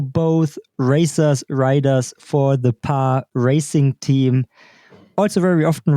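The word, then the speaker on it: Paris: But if you want to do it well, it's PAR. My wife is French, so she would tell me that it's certainly not pronounced the S.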